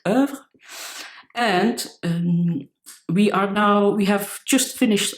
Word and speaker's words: oeuvre: That's how you pronounce it, not oeuvre, but oeuvre.